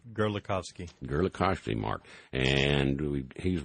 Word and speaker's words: Gerlikovski: are Mark Gerald you're going to have to pronounce that last word for your last name for me it's gerovski gerovski Mark and we he's with the advanced